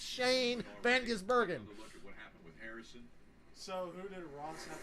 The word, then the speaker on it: Shane van Gisbergen: It's Shane Van Gisbergen.